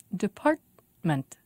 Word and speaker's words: department: Department. Department. Three syllables, and the stress is on part.